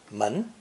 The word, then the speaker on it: 門: door doors or gate pronounce the second tone man to say there's someone